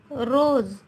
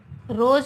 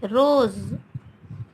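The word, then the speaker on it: रोज़: अब देखिए रोज, रोज नहीं, रोज, है ना, थोड़ी वाइब्रेट होती है हमारी जीभ ना, रोज।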